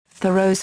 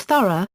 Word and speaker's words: Thoreau: be pronounced vu row with the H sounded and stress on the first syllable another perhaps more common